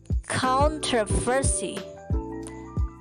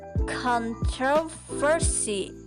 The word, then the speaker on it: controversy: A well-known example is controversy, which is pronounced by some speakers as controversy and by others as controversy. It would be quite wrong to say that one version was correct and one incorrect.